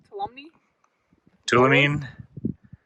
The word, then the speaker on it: Tuolumne: Tuolumne.